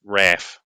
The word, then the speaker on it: RAAF: Force or the raaf or if you're Australian rap that's how they say it they it's Raph in July 1940 with